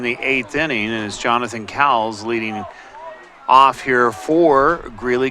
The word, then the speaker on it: Cowles: eighth inning is Jonathan Cowles leading off here for Greeley gojos first pitch fouled away actually the pronunciation is Kohl's Jonathan one of the